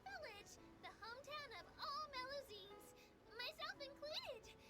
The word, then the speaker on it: Melusine: Anyway, coming up ahead on your left-hand side is Miracy Village, the hometown of all Melusines, myself included. It's deep below the ground, just over there. Melusine, that's how you pronounce that.